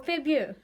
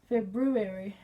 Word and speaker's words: February: Is it February or Febu? February.